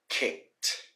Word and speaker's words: kicked: here for you guys k-i-c-k-e-d so to kick and pronunciation for for in the past tense we say kicked kicked so once again the e disappears and the d sounds like a t kicked all right next we